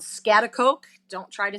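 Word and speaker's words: Schaghticoke: live on a dairy farm in what's called scat Coke don't try to spell it it is not for the faint of heart scat Coke New York and I live with my husband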